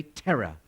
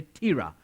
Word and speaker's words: Terah: te RA H and my wife thinks you say terror but I don't think I would say Tara because terror means and